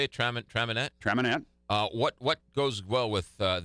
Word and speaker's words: Traminette: Traminette.